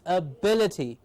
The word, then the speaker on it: ability: we go ahead is words ending in 80 take the accent or the stress on the anti-penultimate syllable or the third syllable from the end i think it's easier to just say the third syllable from the end so we have the words here ability a bill bill will get the stress ability yes opacity yes